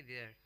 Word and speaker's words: vier: VIER spelling है उसकी, और उसको बोलेंगे देयर.